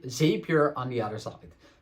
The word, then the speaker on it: Zapier: one side and Z zapier on the other side I sometimes say it wrong but it's make and zapier well both of them